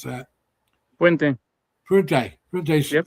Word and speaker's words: Fuente: However you pronounce that. Fuente. Fuente. Yep, Fuente.